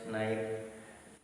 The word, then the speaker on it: knife: Now see here pronunciation. Pronunciation, even though K is in front of K is what is in the sentence, but we should not pronounce this. Knit, knob, known, knee, knot, knowledge, knife, no, knuckle. These are the words. K is silent here. K is silent. K is silent letter.